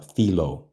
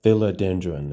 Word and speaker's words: philodendron: r o n and it looks like it would go uh filo but that's not how you say it right so there's sometimes